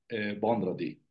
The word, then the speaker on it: vendredi: EN se pronuncia an, vendredi.